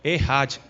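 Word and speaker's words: אחד: Essa palavra hebraica, uma só, vem do hebraico errad, se escreve echad, com CH mesmo de mudo, mas pronuncia errado.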